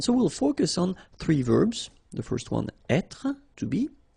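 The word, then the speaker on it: vert: So masculine form you don't pronounce the final t feminine form ver. So listen carefully I don't say t but it's t ver.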